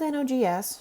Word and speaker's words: NOGS: the point i'm with nogs she continued pronouncing it like a word rather than letters here to pick up